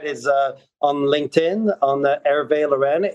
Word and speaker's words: Hervé: would be on on Twitter uh and that it's spelled Ave differently it's my phonetic name my name on